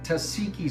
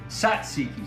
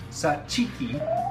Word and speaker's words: tzatziki: it but it's really Satsuki sauce and right way to pronounce it is Satsuki the Greeks pronounce it a little different Sat cheeky like cheeky but I call it